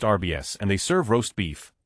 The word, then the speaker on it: Arby's: Arby's is pronounced RBS, and they serve roast beef.